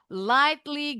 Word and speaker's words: lightly: Betul bacanya lightly ghnya silent oiled.